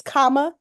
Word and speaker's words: Kamala: didn't stand up and teach you that it's comma, like if you want to take a break in the sentence, comma, la, Easy.